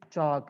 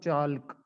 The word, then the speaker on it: chalk: We say it chalk, not chalk. This is chalk. L is silent.